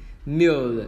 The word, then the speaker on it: meal: Mill là long y các bạn nhé. Mill là chúng ta đọc là mill, chúng ta đưa cái L lên trên.